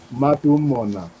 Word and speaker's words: Matumona: Matumona. De novo, vai chamar? Matumona. Matumona. Aham. É? Você conhece alguém com esse nome? Sim. E a pronúncia é diferente, mas essa é a pronúncia.